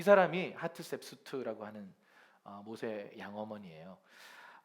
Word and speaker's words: 하트셉수트: 사진을 띄워주시면 이게 누구냐면 하트셉수트. 한번 따라해볼까요? 하트셉수트. 자, 따라해보세요. 하트셉수트. 네, 발음이 좀 쉽지 않습니다, 한국 사람에게는.